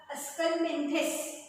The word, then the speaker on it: Aschelminthes: So phylum Aschelminthes, उच्चार बघा Aschelminthes, आणि त्याच्यानुसार स्पेलिंग आपल्याला लिहिता आलं पाहिजे.